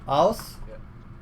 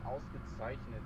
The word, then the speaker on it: ausgezeichnet: You have to practice the German Z. It's like Z.